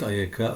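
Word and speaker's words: אֵיכָה: The same word, pronounced ayeka, opens the book of Lamentations, how the city sits solitary that was full of people.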